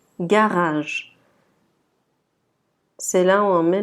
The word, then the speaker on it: garage: Remarquez que le premier G, c'est G, et le deuxième, c'est je. Donc garage.